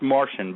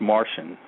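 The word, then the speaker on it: Marcion: martian marshall it's pronounced martian but it's spelled you're right m-a-r-c-i-o-n right but it's pronounced martian i know that sounds like a martian from outer space but that's just how it's pronounced no go ahead man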